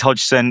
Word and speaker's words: Hodgson: English people struggle to pronounce the surname. It's the D and the G next to each other, which really throws everyone off. But hi, everyone. I'm Hodgson.